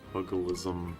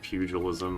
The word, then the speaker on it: pugilism: Uh, pugalism. I don't care if it's pronounced pugilism again. You can't convince me.